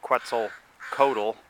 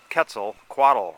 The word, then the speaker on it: Quetzalcoatl: You kind of want to say Quetzalcoatl, but that's not how it's pronounced. It's Quetzalcoatl, a little like Kevin Costner, who I believe actually lives in Santa Barbara also.